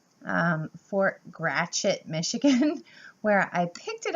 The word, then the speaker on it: Gratiot: was shipped to Fort and I was saying Garret like that's how I would pronounce it but in the states they pronounce it Gretch it Fort Gratiot Michigan where I picked it up and let